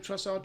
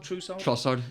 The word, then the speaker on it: Trossard: How do you pronounce his name? Trossard. Trossard.